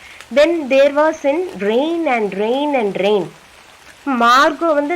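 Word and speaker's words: Margot: இந்த main character of the story is மார்கோ. இங்கே வந்து உங்களுக்கு மார்கட் அப்படின்னு இருக்கும், ஆனால் இந்த ப்ரனன்சியேஷன் வந்து மார்கோ தான் சொல்லணும். டி வந்து சைலண்ட், அதை உச்சரிக்கக்கூடாது, அந்த டீயை உச்சரிக்கக்கூடாது.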